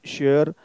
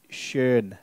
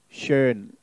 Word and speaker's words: schön: OE, this is my O umlaut. Sound is E as in schön. In German, we have schön. Schön. Beginners pronounce it as schön.